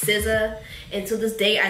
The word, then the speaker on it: SZA: Babe type exotic, or SCA. I used to call her SZA. SCA. I said her name wrong again. Took me the longest time to figure out her name was not SCA, that it's SZA.